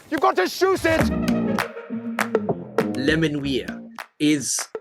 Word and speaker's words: Menuires: Menuires is the correct pronunciation.